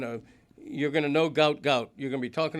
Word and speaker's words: Gout Gout: He's going to you're going to know gout gout.